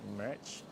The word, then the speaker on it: Merach: How do you pronounce it? Merach.